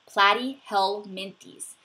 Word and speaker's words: platyhelminthes: flatworms are platyhelminthes so practice saying that word platy held Minty's if you know how to